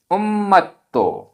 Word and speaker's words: उम्मतो: गाथा क्रमांक 19 उच्चारण अथम आधा त थ आधा म पूरा म अथम अथम हदे हदे पुरिसो पुरिसो उम्मतो आधा मा पूरा मा आधा ता पूरा ता उम्मतो उम्मतो विगय चेयणो विगय